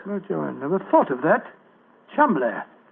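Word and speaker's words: Cholmondeley: Chumley. That name's spelt C-H-O-L, Chol, M-O-N, Mon, D-E-D-E-R, L-E-Y. Chol Mondele. Mondele. Precisely, old fellow. What you thought to be Mandalay was really Chol Mondele, the name of the murderer.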